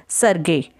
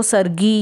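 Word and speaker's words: Sergei: Word है ना सरगे, इसकी प्रोनाउंसिएशन अलग अलग हो सकती है क्योंकि नामों की प्रोनाउंसिएशन, नेम्स की pronunciation country to country very करती है। किसी कंट्री में हो सकता है इसको सरगी या सरजे भी बोला जाता हो, लेकिन जो एक्चुअल रशियन प्रोनाउंसिएशन है वो सरगे है।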